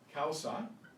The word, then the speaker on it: causa: Okay, that's pronounced ow in English. This is wa, wa. So we have causa, which you can plainly guess is cause, and agua, agua, water.